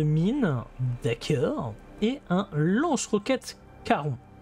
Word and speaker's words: Charon: Et un lance-roquette Caron. Oui, ça s'écrit Charon, mais c'est Caron comme le passeur. De la mythologie grecque, s'il vous plaît, et on prend 009 de prime.